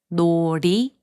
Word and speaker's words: 놀이: When a syllable ends in a consonant and the next syllable begins with 이응, the final consonant sound moves to the next syllable.